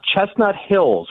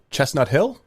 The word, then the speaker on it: Chestnut Hill: Chestnut Hills. What's the correct pronunciation? Chestnut Hill?